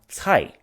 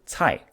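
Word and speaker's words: 财: The word wealth in Chinese is pronounced cai. Okay, so some of you may know that Mandarin has 4 tones, so it is in fact the second tone which goes up, but anyway, it sounds very similar to cai.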